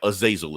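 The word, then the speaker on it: Azazel: confusing uh but yeah aasil is what his name is so yeah so she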